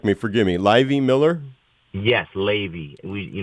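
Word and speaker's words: Laivy: everything his name's you'll correct me forgive me livey Miller yes Ley we you know it's spelled l a i v y pronounced Ley like get all grateful that song Lazy River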